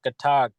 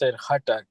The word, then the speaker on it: Hatak: Last name is Hatak. As they say here, Katak, but it's usually pronounced Hatak.